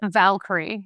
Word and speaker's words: Valkyrie: In a 2015 production of I can't even pronounce it. You'll have to say it. Valkyrie.